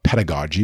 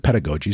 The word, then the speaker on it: pedagogy: So pedagogy, or pedagogy, depending on how you want to pronounce it, I pronounce it pedagogy.